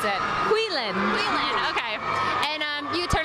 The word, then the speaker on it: Huilen: How do you pronounce it? Huilen.